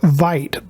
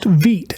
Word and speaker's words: Vite: we're talking about Veet it looks like you would pronounce the word Vite but it is pronounced Veet as in v-e-e-t today I'll show you